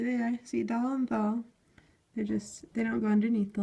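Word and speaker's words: ذال: See dal and thal. They don't go underneath the line. And thal has dot on top. Thal is the D-H-E-L. It's pronounced like a this or the.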